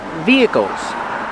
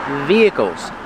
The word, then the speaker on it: vehicles: Vehicles. Vehicles. The H is silent. We do not say vehicles. It's via. V vehicles.